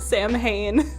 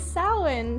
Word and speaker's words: Samhain: Which, by the way, if anyone didn't know, that is how you pronounce that. It is not pronounced Samhain. Although that's what I say in my head every single time I write it. It is Samhain.